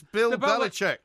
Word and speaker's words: Belichick: It's Bill Belichick.